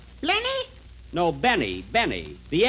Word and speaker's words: Benny: Jack Blenny? Blenny? No, Benny. Benny. The L is silent in there.